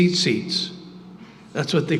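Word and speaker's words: tzitzit: So say seats. That's what they call them. It's actually T-Z-I-T-Z-I-T is the way you spell it.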